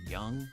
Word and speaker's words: Jung: Uh, Tigers have Jace Jung actually pronounced young.